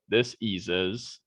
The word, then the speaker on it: dis-ease: And I'm actually pronouncing it as that. Dis-ease, which is the body itself losing a form of ease.